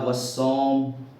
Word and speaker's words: والصوم: والصوم، ہے نا، الف لام کا تلفظ ادا نہیں ہو رہا ہے۔ والنہار، الف لام کا